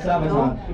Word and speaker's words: Sabaton: But I see a couple of people wearing a Sabaton shirt. I shouldn't really pronounce it like that always. People go, wait, it's Sabaton? Hey, no. Who does Sabaton history? It's Swedish. Really, it's Sabaton.